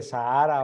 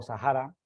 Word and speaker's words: Sahara: hoy en día se llama el desierto de Sahara o Sahara lo pronuncian diferente algunas personas lo que hoy es